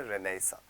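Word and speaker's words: renaissance: का रीबर्थ होता है उसको हम बोलते हैं रेनेसां ठीक है इसको रेनेसा बोलते हैं डेट इस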